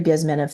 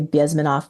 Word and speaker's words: Bezmenov: It's supposed to be, people say Bezmenov, it's Bezmenov, so I have to be a geek and say it the right way in Russian.